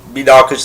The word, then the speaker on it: Minako: the first syllable, and I've always pronounced it with the stress on the next to last syllable, but whatever.